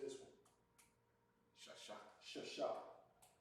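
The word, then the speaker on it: שש: Shasha.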